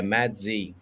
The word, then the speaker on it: Maggi: that yeah uh actually the pronunciation is mad z yeah madzie but they spell it with m-a-g-g-i yeah that's strange mazin